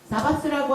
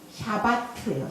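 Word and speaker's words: שבת: 사바스라고 하는 거는 그 말 그대로 어원이 우리 말이 샤바트예요. 샤바트. 그대로 읽으면 돼요. 그냥 샤바트. 사바스라고 하는 안식일이라고 하는 것이 그 표기 그대로 히브리 말 그대로예요. 그대로 샤바트라고 읽어요.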